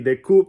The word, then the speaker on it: The Coup: Se dice The Coup, la P no se pronuncia.